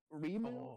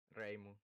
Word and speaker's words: Reimu: Is it Rimu or Reimu? Reimu. Okay. Reimu.